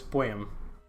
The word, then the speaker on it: poem: next we have is poem poem yes poem poem you home yeah almost like a long Oh I for I am poem I can't explain it that's how it's pronounced oh okay sure yeah